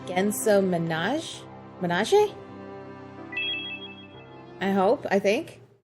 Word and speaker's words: Manège: for me son uh Minaj is pronounced man man it means Carousel are riding a school in French oh okay hey pancake